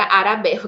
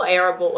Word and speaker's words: Arable: Arable, sorry, a senhora Arabelle, que é assim que os meus alunos traduzem, né? Eu falo Arable, assim.